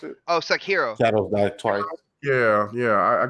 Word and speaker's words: Sekiro: The Sarinko. How do you pronounce it? Oh, Sekiro.